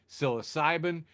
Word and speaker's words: psilocybin: Psilocybin with a silent P.